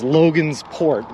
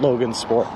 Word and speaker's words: Logansport: that i'm gonna say it's logan's port not logan's sport wait tiggy what